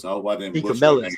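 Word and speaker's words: DeCamillis: D. Camillus, that's it.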